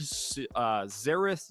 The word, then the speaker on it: Xerath: off of their weird Xerath Xayah bot lane, which I'm apparently having so much trouble to say, just It's because, like, well, it's 2 X's that are pronounced as, like, Z's, and you never see